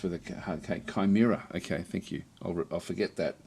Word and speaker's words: Chimera: not to be that guy, but Chimera is pronounced with a hard cake." Chimera. Okay, thank you. I'll I'll forget that. I'll forget that within about five minutes. I've always called them Chimeas ever since I don't remember when I first